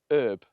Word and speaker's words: herb: herb correctly you see up until the 19th century here in Britain herb was pronounced without the H it was pronounced herb obviously there isn't the